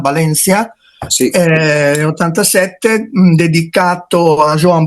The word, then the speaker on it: Valencia: Here, in the manifesto, It came out in 87, in that beautiful catalogue called "Valencia", Note the Spanish pronunciation, "Valencia", is 87 dedicated to Joan Brossa.